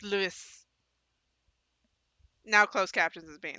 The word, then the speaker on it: Luis: I can't stand how it's like, it's not Louis, it's Luis. It's Luis.